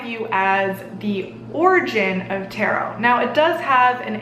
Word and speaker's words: Tarot: this is why we call it Tarot and you don't pronounce that T because it's French though if you are